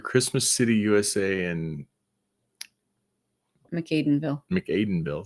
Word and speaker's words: McAdenville: City USA and McAdenville McAdenville thank you I'm that's how I would pronounce that I was Aiden or Aden but I guess makes sense with the with the m yeah hooked on fing